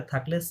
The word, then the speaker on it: très: থে means হচ্ছে very, ওকে? Very. Very কি বলে? থে, থে। Okay, S silent.